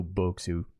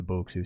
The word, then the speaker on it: Bokksu: I like to go Bokksu, just pronunciation wise.